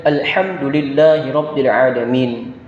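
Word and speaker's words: الحمد لله رب العالمين: Nah, ini ada huruf ha kecil, yang mana ini biasa kita ucapkan sama dengan keluar hurufnya di huruf ain tadi, yaitu di pertengahan tenggorokan kita, yaitu pengucapannya adalah ha. Alhamdulillahirabbil alamin. Lagi-lagi di situ ada ain lagi, jadi ada huruf ha dan ain yang harus kita perhatikan, yang mana pengucapannya harus kita hati-hati sekali.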